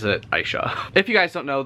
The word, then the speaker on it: Aisha: I looked up how the author pronounces her name, and I know some people pronounce it Aisha, but she pronounces it Aisha.